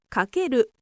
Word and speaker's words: かける: この記号はかけると読みます。